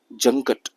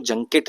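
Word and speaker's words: junket: ठीक, चलो question number, मतलब अगला शब्द है जंकट। इसको जंकेट नहीं, यहाँ पे प्रोनाउंसिएशन लिखा हुआ ना जंकट पढ़ते हैं।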